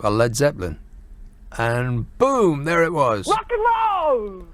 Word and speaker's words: Led Zeppelin: called were originally called Le A D Zeppelin, but they dropped the A because they thought Americans would say it like I like lead Zeppelin."